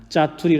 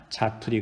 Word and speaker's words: 자투리: 활용을 하죠 그죠 어 그런데 이것도 우리가 신경 쓰지 않고 얘기하게 되면 은 뭐 라고 발음하는 경우가 많은가 하면 은 짜투리 라고 발음하는 경우가 많습니다 만 자투리 가 요즘 발음입니다 이것의 형님 적인 것이